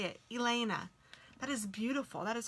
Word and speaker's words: Ilena: Oh, it's Ilena. I am so sorry. I'm so glad you told me how to say it. Ilena.